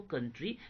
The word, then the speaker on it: coup: That means military कू, इसको जो pronunciation जो करते हैं COUP को, इसको प्रोनाउंसिएशन जो करते कू करते हैं, ठीक है।